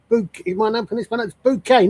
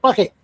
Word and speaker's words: Bucket: And my name is pronounced Bouquet, not Bucket.